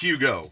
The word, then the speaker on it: Hugo: That's how we pronounced Hugo. Like it's got a Y in it.